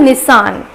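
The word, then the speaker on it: Nissan: सो इसे हम थोड़ा खींच के लेके जाते हैं, जैसे आप बोलेंगे निसान, सो इसका प्रोनाउंसिएशन होता है निसान।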